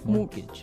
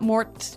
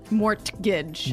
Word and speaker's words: mortgage: with a t yeah it has a t in it but you don't pronounce it you say mortgage morgage so not Mort morgage not mortgage morgage morgage